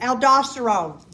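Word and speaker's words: aldosterone: Aldoststerone.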